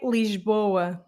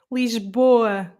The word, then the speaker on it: Lisboa: the the vowels like we pronounce them more here like for example in the word let's say the word lisbon okay here i say lisboa you hear the boa there they say lisboa do you see the